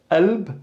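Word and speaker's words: قلب: So again, the qalb, for example, could be pronounced as qalb or alb, glottal stop, alb, and we're just really stopping here, kind of like the sound in apple, but the glottal stop here comes in the middle.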